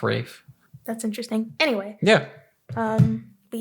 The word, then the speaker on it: Ralph: Also, his name is Ralph, not Ray. It's Rafe. Look up how do you pronounce Rafe Fiennes' name, and yeah, it's spelled Ralph, but it's pronounced Rafe.